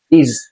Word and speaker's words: is: লেখা আছে এস, কিন্তু সাউন্ড হবে জেড এর মতো। ইজ, আর বলি অনেকে না, আর, আরটা রটা এটা কি হয়?